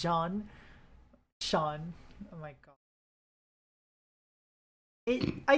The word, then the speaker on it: Zeon: Their nation of Zeon is pronounced Jean.